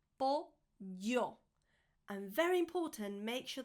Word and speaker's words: pollo: Pollo. Chicken. Pollo. Pollo. Chicken. Not polo. Polo is actually ice cream. You need to pronounce the double L. Pollo.